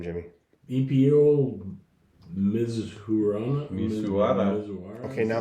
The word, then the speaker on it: Mizuhara: EPO Mizuhara.